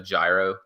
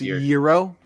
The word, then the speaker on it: gyro: It was kind of like a gyro slider a little bit more in previous years. Pronounced Euro? Shut up. It definitely is not.